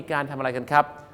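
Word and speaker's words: coup: ก็ คือ อะไร ครับ คู c o ออก เสียง ว่า คู นะ ครับ คู มา จาก ภาษา ฝรั่งเศส คือ คู Data นั้น ครับ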